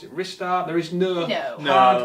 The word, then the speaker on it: Ristar: And it also part of the blurb even mentions a rising star, so it would make Yeah, sense that it was Rystar.